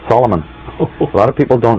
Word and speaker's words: Solomon: mm-hmm but you actual right way to pronounce his name is in three syllables because the man Solomon did not actually exist the concept of the story of Solomon has based on the